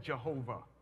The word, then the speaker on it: Jehovah: So the word of God, the name of God, which we pronounce today as Yahweh, and some say Jehovah, same thing, supposed to be.